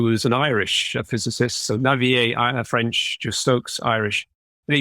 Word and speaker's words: Navier: i mean this is i'm pronouncing this word navier like a typical anglo person that i i am i mean claude navier